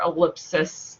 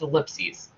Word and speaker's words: ellipses: So the plural is with an ES, and it's pronounced ellipses or ellipsis if you want to pronounce that, but that's where the confusion comes from, is writing the wrong word.